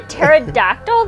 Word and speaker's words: pterodactyl: of it before it's too late that's a pterodactyl that's how you spell it what the p is silent well shit